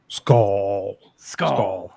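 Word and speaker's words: Skål: Did I say it right? We went over this the other day. Yes. Skal. Skull. All right, I got to put more emphasis on it.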